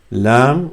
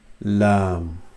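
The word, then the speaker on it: لام: So you touch the tip of your tongue with the inside of the top of the mouth, which is hard palate here. L, l, lam, l, lam.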